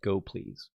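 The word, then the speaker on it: gopls: works with go is called go PLS which I think is pronounced go please like go please do this so that's that's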